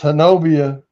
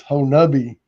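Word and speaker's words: Honobia: People say it's Hanovia, but the Indian pron pronunciation is Honabi.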